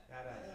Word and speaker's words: BDAS: The Berkeley Data Analytics Stack is abbreviated BDAS, and it's pronounced? BDAS.